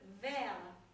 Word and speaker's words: verre: English, the French word verre, V-E-R-R-E, means glass. But there is an old French word, V-I-E-R, which is pronounced exactly the same, verre, which is French for fur.